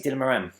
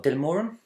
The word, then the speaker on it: Dylan Moran: Yes, I'm going to see Dylan Moran or Dylan Moran. As I think an Irish friend told me, I was pronouncing it wrong.